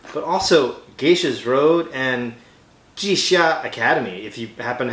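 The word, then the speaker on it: Jixia: also geisha's road and jisia academy if you happen to have g-shot yes that's right it's pronounced g-shock x in chinese is somewhere between s and s-h in english sorry linguistic nerd i'm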